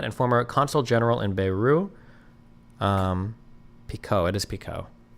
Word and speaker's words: Beirut: The T in Beirut is pronounced Beirut. Beirut.